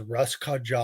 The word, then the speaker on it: Russkaja: Their name is Russ Kaja or Russ Kaja. I forget how to pronunciate it, but they are a polka metal punk band.